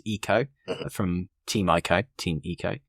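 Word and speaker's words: Ico: One of which is Ieko. I know the correct pronunciation is Eco from Team Eeko.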